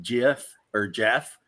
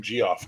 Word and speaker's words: Geoff: guys whose names are Jeff that spell it that way. And I'm like, I call them Geoff to their face just to see them go like, no, it's Jeff. Well, it's spelled Geoff.